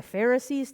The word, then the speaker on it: Pharisee: We're going to look at the Pharisees today. Just remember, Pharisee rhymes with, hey, look at me.